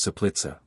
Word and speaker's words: Soplica: C is invariably pronounced soft, like TZ, before all vowels and before consonants, even in cases where it is hard in other languages, as Soplica, pronounced Soplica.